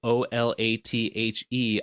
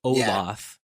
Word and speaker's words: Olathe: town which is spelled o-l-a-t-h-e I always thought it was pronounced Olaf but apparently it's Olathe which is like fine